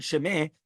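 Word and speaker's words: שמה: The Rebbe Moshe, however, cited the Aguda, ruling that according to the word Shemeh must be pronounced with a silent hey, specifically, so that it should not be even suggested in the interpretation of the name of Yah.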